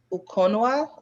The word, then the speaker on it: Ukonwa: How would I pronounce this? Her her name. I mean, I will go with Ukonwa, OJCMO. I wasn't that bad. Okonwa.